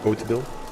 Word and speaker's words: Hauteville: Hauteville, I believe it actually is pronounced Hauteville.